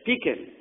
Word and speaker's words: Pekin: Pekin, not Pekin. That's how I've been pronouncing it for the last week.